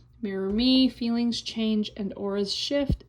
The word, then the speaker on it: Mirror Mi: Um, so here's the Mirror Me logo. It's all in a mirror. And MI, it's spelled MI.